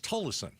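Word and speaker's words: Tolleson: I always thought it was Talison, but apparently people say it's Tlison. Yeah. Well, some people and then other people say, "No, I live there and it's Talison."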